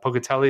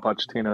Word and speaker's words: Pochettino: job uh poker uh pocatelli is that how you say his name the former PSG and former uh Tottenham coach pocatino oh pochettino yeah yeah he's interested in